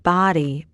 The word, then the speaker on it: Bodie: Bod B O D I E pronounced body B O D Y because of the number of bodies that washed up here over the years.